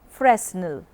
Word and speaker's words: Fresnel: of lens is called Fresnel lens commonly pronounced Fresnel and it is used